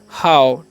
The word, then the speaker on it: how: तो लिख दिए ह, और OW का उच्चारण यहाँ पर आओ करना है। क्या करना है, आओ, तो हो गया हाउ, ठीक है।